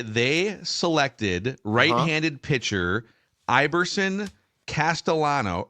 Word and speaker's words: Castellano: selected right-handed pitcher ibberson Castellano or Castellano depending on uh if we're pronouncing the double L's in American fashion um from the Philadelphia